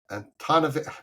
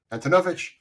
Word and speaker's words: Antonovich: Jeff Chen, Tom Arts, Michael Antonovich. I always pronounce his name wrong. Antonovich. There we go.